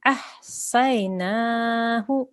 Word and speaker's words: أَحْصَيْنَاهُ: وَكُلَّ شَيْءٍ أَحْصَيْنَاهُ. وكل شيء أحصيناه. أحصيناه. Okay, so you need to make sure na is longer and hu is shorter.